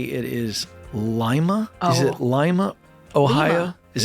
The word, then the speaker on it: Lima: Well, in Peru it's Lima, but I guess it's in Ohio it's Lima.